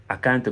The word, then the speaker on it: can't: seconde dans la prononciation vous nêtes pas obligé de prononcer le T à la fin parce que les Américains ne prononcent pas ce t là en général donc ce qui se